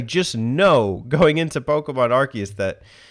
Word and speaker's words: Arceus: though so let's let's address that does pokemon arceus interest you did you know it's pronounced arceus they were saying it on commercials on hulu